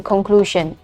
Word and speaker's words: conclusion: specifically untuk yang bagian conclusion. Nah, ini adalah phonetics, okay? You can see it from the dictionary, okay? Phonetics dari conclusion, okay? Jadi walaupun spellingnya itu C, tapi dia untuk pronunciation-nya itu k, okay?